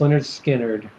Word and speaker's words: Lynyrd Skynyrd: 898 times on Classic Rock Radio off of pronounced Leonard Skynyrd Free Bird it's it's it's just the song